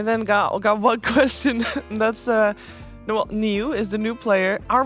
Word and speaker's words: Niu: That's Niu is the new player. Are we pronouncing his name right? Is that the way you pronounce it, Niu, or is there a different way to pronounce it?